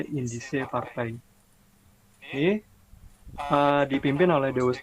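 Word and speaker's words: Indische Partij: Cara bacanya dalam bahasa Belanda indise partai.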